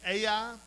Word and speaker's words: Ai: Chapters seven and eight record the the fall of the city Ai, which is spelled just like it sounds, AI.